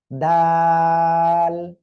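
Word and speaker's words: دال: দাল। জিহ্বার আগা দুই দাঁতের গোড়ার সঙ্গে লাগিয়ে উচ্চারণ করতে হবে, আর উচ্চারণের সময় তিন আলিফ টেনে পড়তে হবে। দাল, ঠিক আছে।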